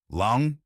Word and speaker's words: Laung: Long, pronounced long.